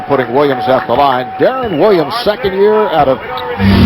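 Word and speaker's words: Deron: Williams off the line Darren Williams second year out of Illinois and says his first name is usually mispronounced says the PA guys often introduce him as doron and he says he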